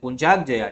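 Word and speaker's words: Puncak Jaya: है कौन सा है कुंक जया ऐसे प्रोनाउंस इंग्लिश में ऐसे करते हैं पंचाग जया ठीक है ये चीज ध्यान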